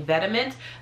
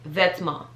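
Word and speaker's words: Vetements: that maybe that meant maybe people have been mispronouncing and they're saying vediment but it's vetsma vetsma i've been super into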